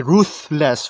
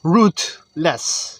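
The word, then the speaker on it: rootless: or a typo right i thought the word is going to be ruthless ruthless but it's actually root less you know and yeah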